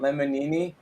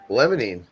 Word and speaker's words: limonene: laughed when we heard you say, "Is it lemonini?" Lemonine.